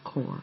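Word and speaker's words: Kore: goddess appears first as an innocent core spelled with a k maiden or daughter is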